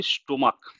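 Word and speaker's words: stomach: এস যোগ হবে কারণ এখানে সিএচ এর উচ্চারণটা ক এর মত হচ্ছে চ এর মত হচ্ছে না তুমি আরেকটা আমরা এক্সাম্পেল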